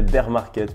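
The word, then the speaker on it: bear market: Qu'est-ce que tu penses du beer market ? Comme disent les Français, be market pour les personnes qui ont une meilleure prononciation, marché ours, si on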